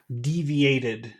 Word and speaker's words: deviated: it deviate from that deviated deviated if it when a word ends with a T sound you add an extra syllable in the past deviated deviated deviated mhm